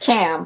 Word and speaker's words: Ham: Not only that, but so is Ham, whose name is actually pronounced Cam.